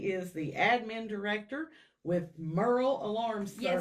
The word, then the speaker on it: Murrell: Because I've heard it pronounced several different ways. Yes, ma'am. The easiest way to remember Merl like Merl Hagard.